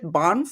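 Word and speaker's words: Banff: Bonf.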